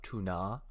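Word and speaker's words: Túna: hills of tuna yeah so I say the hills of tuna because there's an accent but it's spelled the same way tuna um it's sad for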